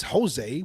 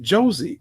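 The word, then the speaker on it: José: Well, bro, to be fair, we know that it reads Jose. We know that. Right, That's but a I hear very people pronounce it Josie all But the time.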